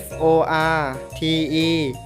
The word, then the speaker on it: forte: ครับ คำ ที่ 1 f o r t e อ่าน ว่า forte หมาย ถึง ดัง ครั้ง